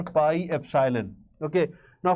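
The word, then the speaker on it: epsilon: Okay, so we pronounce it as epsylon. This is how we pronounce it. This is epsylon.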